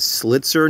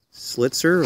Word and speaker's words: Slitzer: today we have a slit sir knife slit sir um let me just go ahead and spell that out for you because it sounds a little different SL IT zer these